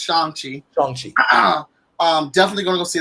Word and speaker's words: Shang-Chi: So Shang-Chi, which is it's pronounced Shang-Chi.